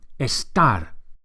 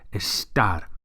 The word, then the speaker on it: estar: or temporary states, is estar. Make sure you emphasize the second syllable, the last syllable. Estar.